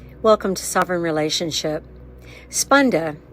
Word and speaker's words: Spanda: Spunda sp a n da is how that's spelled is when sovereignty meets relationship with self and others all sentient beings and their relationship.